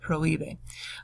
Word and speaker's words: prohíbe: Do notice on prohíbe, too, that the accent is on the I of prohíbe.